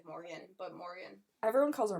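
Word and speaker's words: Morrigan: her name Morgan yeah there's a little bit of like a draw too because of the spelling but it's pretty much Morgan but Morgan everyone calls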